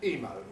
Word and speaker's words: IMO: for the river oh IMO pronounced emo was a nickname given to him from the play on the initials of his full name Ian Owen Mall emo had pitched distracted